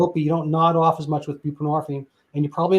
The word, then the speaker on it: buprenorphine: fair Suboxone came along and that's buprenorphine and and people like what is that well I mean the hint is it rhymes with morphine which is derivative from